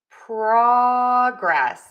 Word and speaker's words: progress: Progress is our noun. Truer vowel on syllable number 1, progress.